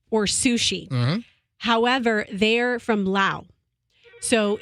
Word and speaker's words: Laos: mostly either Thai or sushi however they're from Lao so it's loud I'm not saying